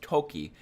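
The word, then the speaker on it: とき: for wind in that case it is actually pronounced as Toki and not G it's a different reading for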